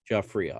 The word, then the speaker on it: Giuffria: Giuffria.